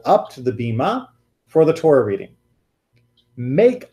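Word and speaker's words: bimah: place in the world Beema Beema death bi ma H I guess beam up yeah right the Bema is like the correct hebrew pronunciation but a lot of people will just say bhima that's sort of the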